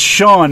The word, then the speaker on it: Sean: also my single that's on there and it's Sean s EAN just for people that can't spell